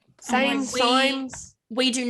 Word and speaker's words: Sainz: butchered it. Carlos Sainz. Sames. Same my- signs.